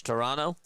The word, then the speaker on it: Toronto: I appreciate that you pronounce Toronto the right way. The second T is silent. So it's Toronto.